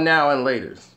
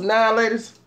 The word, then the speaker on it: Now and Later: his friends I never knew they were called now and laters never called him that everywhere we was friends now laters that's it yeah what's up now ladies wants annihilated that's how they pronounced huh Mitch